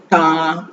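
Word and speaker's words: 他: தா தா தா இந்த டி வரும்போது எப்படி ப்ரொனவுன்ஸ் பண்ணணும் அப்படின்னு பாத்தீங்கன்னா, நம்ம தமிழ்ல இட்டு ப்ரொனவுன்ஸ் பண்ணுவோம்ல, இட், தா, இட், அதோட சேர்த்து ஆ தா தா தா தா தா தான்னா ஹி ஷி, ரெண்டுக்குமே வந்து சைனீஸ்ல தா அப்படின்னு தான் ப்ரொனவுன்சியேஷன். ஆனா கேரக்டர் வேற.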